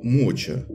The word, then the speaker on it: МОЧА: подобные ненавистники памятника уничижительно называют его моча и как искренне радуются своим проделкам с которым у вас возникли ассоциации называется по-другому Да и ударение они ставят на первый слог Ну и последнее немаловажное